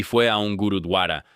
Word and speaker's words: gurdwara: y fue a un gurudwara. Siempre me equivoco al pronunciarlo. Lo voy a decir como creo que se debe decir. Gurdwara en Manchester, y le